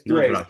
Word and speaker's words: Grace: Welcome back to Wine Time Fridays with Shelley and Phil and Daniel Grace, not Grace. It's Grace.